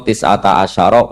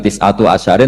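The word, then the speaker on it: تِسْعَةَ عَشَرَ: Padahal itu jadi mubtada muakhar aliha iku tetep ing atase neroko tisata asyaro utawi 19. Tetap bacanya bukan tisatu asyarin tapi tisata asyar.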